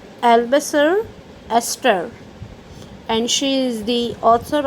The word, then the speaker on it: Eleanor Estes: Its pronunciation is like Albasar Esther, and she is the author of your lesson number 5, the 100 dresses.